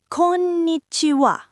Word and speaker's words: こんにちは: Next, konnichiwa. こんにちは、こんにちは。 Konnichiwa. Hello. Remember the wa sound at the end.